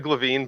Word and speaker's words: Glavine: Is it Glavine or Glavine? Either one is fine. It's actually Glavine, but depending on where you are in the country, people say it differently.